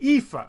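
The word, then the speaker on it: EAFE: other than the United States was called the epha and that's how it's pronounced it stands for Europe Australia and the Far East but they never added the developing world to the epha so again they created a new index that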